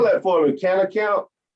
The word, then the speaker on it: Cannakamp: Well, I guess my internal goal would be to keep this community in Cannakamp troll free. Spell that for me, cannakamp. Canna, like Canna, Canna, Camp with a K, like Mitch Camp, Mike Camp.